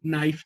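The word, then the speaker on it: knife: वो तो वैसे ही के को फिर हम साइलेंट कर लेते हैं, के एन आई एफ ई, नाइफ जिसे बोलते हैं, वो तो के साउंड है ही नहीं।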